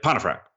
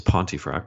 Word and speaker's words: Pontefract: cubicle he's like and he got my name pronunciation wrong he's like Pontefract and I was like okay it's Pontefract but whatever in my